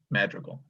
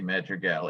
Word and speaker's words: Madrigal: the word was that his last name is pronounced Madrigal, accent on the last syllable. Okay. Not like the ancient English music madrigal.